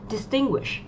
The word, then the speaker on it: distinguish: là phương án C, distinguish. Chúng ta có trọng âm rơi vào âm tiết thứ hai, các từ còn lại trọng âm rơi vào âm tiết đầu tiên.